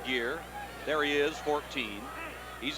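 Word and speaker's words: Gher: gear pushing bunch jeff gear it's spelled g-h-e-r pronounced gear there he is 14.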